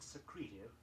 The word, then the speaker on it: secretive: In the word secretive, S-E-C-R-E-T-I-V-E, notice that the accent falls on the second syllable.